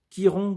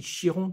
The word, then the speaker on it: Chiron: après la Veron après la Kiron qu'on peut prononcer aussi Chiron puisque c'était en hommage à un un coureur automobile français dont le nom de famille était Chiron et bien voici le